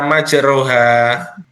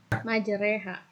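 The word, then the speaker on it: مجريها: Oke, kenapa tadi dibaca majroha? Itu bacanya yang benar apa? Majreha.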